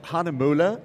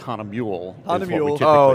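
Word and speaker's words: Hähnel: it's Han he's closer it's hanula is the correct is the correct pronunciation let me see that Han because it's got I didn't even see that called OTS right Huna that's right there's the umot on top of the the U and hanula hanula is the correct pronunciation however in North America we make it really easy on everyone it's Hanam mule I like you know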